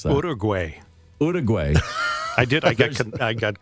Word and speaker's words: Uruguay: How do you pronounce that? Uruguay.